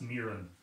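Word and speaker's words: Meeran: In the school's folklore, I saw it anglicised as M-E-E-R-A-N, so I took it that it should be pronounced Mirren. Justin, you might correct me on that, whether he's not in the room.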